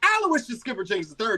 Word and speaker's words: Aloysius Skipper Jenkins III: You were so close. But the name is Aloysius Skipper Jenkins III. You have to say the whole thing like Tribe Called Quest.